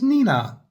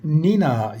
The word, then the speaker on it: Nenagh: The name of this town, it's sounds like the noise you used to make of a police car when we were kids. Nina. This is Nenina.